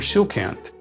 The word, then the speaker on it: Tsojcanth: some tips on that based on the Polish language shant would be pronounced shant or shant and I use the latter with the th we may also support